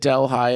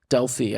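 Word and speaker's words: Delphi: new dely I think I said delhigh and my last um thing is because there is a a town in in Iowa called delhigh so my bad dely I do believe it is um pronounced but uh the two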